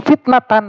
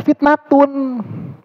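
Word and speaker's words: فتنةٌ: uhum illa Kana lib'ihim fitnatan begitu perkatanya Ibnu Abbas itu dia bilang harus bacanya fitnatun Ya kenapa dia bilang ini harus fitnatun karena fitnatun kata dia fitnatun itu jadi Isim ka muakhar dan libanya ini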